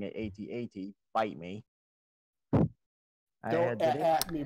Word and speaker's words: AT-AT: Yes, I'm pronouncing it AT-AT.